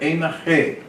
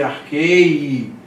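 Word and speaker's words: ἐν ἀρχῇ: Então por isso que você pronuncia enarché. Aqui como se fosse arquei, mas não é. É narché.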